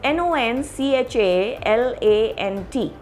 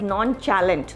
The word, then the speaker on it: nonchalant: the next word is n-o-n-c-h-a-l-a-n-t now many people say the word as non-challenge that is the wrong pronunciation basically this word is again a french word taken into english you pronounce it as